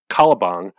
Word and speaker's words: Calabang: this a strange guest calabang pronounced similar to shakespeare's caliban is brought in and